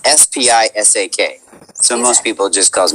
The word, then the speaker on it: Spisak: proper intro guys this did i say it correctly spissack or sp well it's spisak with a speed at the beginning of that i should have asked this